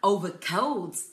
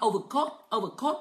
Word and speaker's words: overcoats: Nhưng mà overcoats, overcoats, nhớ phát âm chuẩn nhá. Overcoats, overcoats, đừng có phát âm là overcoat, overcoat đấy.